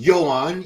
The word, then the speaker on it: Yoan: Second place, third place, Yoan. It's pronounced Yoan. Even AI confirmed it.